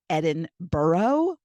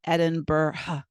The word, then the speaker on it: Edinburgh: isn't so it's really Edinburgh Edinburgh but that you know you say it say Edinburgh Edinburgh so it's not burrow it's bruh so that's a little